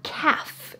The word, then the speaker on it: calf: your shin is your calf your calf now strangely enough this is also the word for a baby cow a baby cow is a calf notice the l is silent but this muscle here